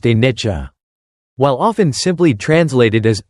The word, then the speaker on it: anicca: At the very heart of the Buddha's teaching on impermanence lies the Pali word anicca, pronounced anicca.